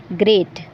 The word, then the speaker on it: GR8: GR8 को जब हम प्रोनाउंस करेंगे, जब हम इसको बोलेंगे तो इसका साउंड निकलेगा ग्रेट और ग्रेट का मतलब होता है बढ़िया या बहुत बढ़िया।